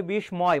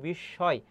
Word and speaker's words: বিস্ময়: পরের প্রশ্নটি, বিস্ময়, অনেকে উচ্চারণ করে বিস্ময়, ম ফলার উচ্চারণ হবে না, ম ফলার উচ্চারণ এখানে হবে না, দন্তস্ব তো আসবে না, কারণ ছয়ের মতো উচ্চারণ, বিস্ময় বলি না, আমরা বলি বিস্ময়।